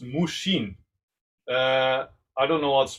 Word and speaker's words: mushin: In Japan, there's a word that's pronounced mushin.